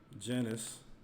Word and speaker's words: Janus: So, and this is Janus. So it's pronounced Janus, and it shows that Janus is the god of the beginnings.